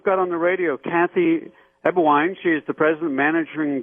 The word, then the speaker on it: Eberwein: and today we've got on the radio Kathy ewine she is the president managing director of the